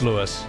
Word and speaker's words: Louis: It's not pronounced Louis, it's Lewis.